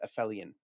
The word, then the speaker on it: Aphelion: This is Aphelion.